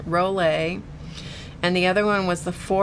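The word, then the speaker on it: Rollé: The Rollet, which is R-O-L-L-E with a accent on the E, Rollet.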